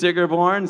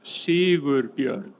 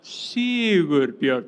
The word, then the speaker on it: Sigurbjörn: And another great streamer on Twitch is Sigurborn. Sigur's come up here. What's up, Sigur? I would like to do a little pronunciation test now. It's Sigurbjörn. Sigurbjörn. That's my name.